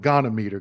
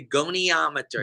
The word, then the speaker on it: goniometer: range of motion and I was calling it gometer gometer and someone said no it's this and